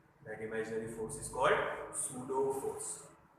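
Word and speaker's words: pseudo: Imaginary force is called सूडो force. P silent है, नहीं तो SEUDO कर देंगे, सूडो फोर्स, पी साइलेंट है।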